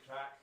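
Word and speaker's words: craic: with them like oh he's got good crack he got good crack and it's spelled c r a i c and it means they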